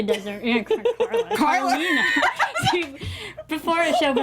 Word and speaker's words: Carlina: Carla doesn't. Carlina. See, before the show, we were mentioning names, always mispronouncing, and I just did it.